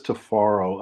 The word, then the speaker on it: Tifiro: name tafaro yeah well my name is tofaro uh the name is um is spelled in the African pronunciation with t-i-f-i so the I sound like A's but they're really they're pronounced with eyes spell with eyes I should say so